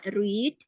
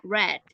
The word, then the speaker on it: read: Bentuk pertama read, bentuk keduanya red ya. Jadi kayak kamu mempronunciasikan warna merah, red ya.